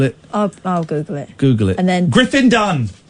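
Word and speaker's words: Griffin Dunne: And then Griffin Dunn. So it's 2 syllables and 1 syllable.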